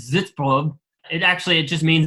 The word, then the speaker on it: Sitzprobe: probe sits from which if you were to use the correct German pronunciation I believe would be this probe it actually it just